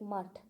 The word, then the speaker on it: mutt: Okay, in Bengali pronunciation it is mott, and I suppose it will be pronounced like mutt.